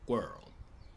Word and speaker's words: world: fica com girl, squirrel, world, word, world. O W a gente faz desarredondando os lábios. R a gente faz com a língua.